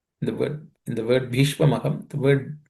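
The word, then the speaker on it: भीष्म: The word B in the word in the word Bishma the word the letter B is aspirated because it's the fourth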